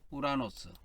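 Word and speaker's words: οὐρανός: 이게 우 발음이에요. 라고 이건 노고 이건 S 발음이고 그렇습니다. 이거는 코, 스, 모, 스 이렇게 됩니다. 코스모스, 우라노스.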